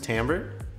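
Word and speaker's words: timbre: for the sound of an instrument is called Tambor it's spelled t IM bre but it's pronounced Tambor and so if we altered some of these harmonics brought some of them up it would alter the tamra of the flute it might make it sound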